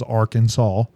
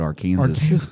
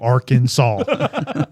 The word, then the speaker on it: Arkansas: Yes, it is spelled that A R K A N S A W. Arkansas.